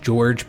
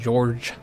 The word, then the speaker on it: Jorge: But I guess it's more like the English George, but and I mentioned this earlier in the series, but the J is more like how the French say it, like George.